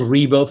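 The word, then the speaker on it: Ribo: My name is Rebo for the ones that are only listening and not watching this video and they don't see the visuals here on the screen.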